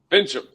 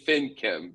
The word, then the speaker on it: Finchem: What's the pronunciation? Fincham. Thank you. I always want to say FinChem because he sounds like an artificial fish.